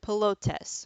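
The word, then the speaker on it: pilotis: also with the P give you a second pillow tests okay and it's spelled PIL ot is and this leaves the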